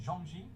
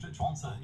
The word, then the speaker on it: Zhuangzi: I think zhuangzi is the way that it's typically pronounced, as if it was modern.